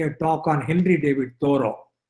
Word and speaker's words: Thoreau: it is hindi david thoros sorry it rhymes with beerus or b-u-r-e-i-u b-ro it is hindi david thoreau not turio immediately all the students